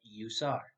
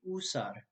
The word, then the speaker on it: usar: speakers speaking spanish will often say something like you saw this is a mistake because you always says ooh in spanish this letter will always say oops so the correct pronunciation would be usar thanks for tuning in to this video everyone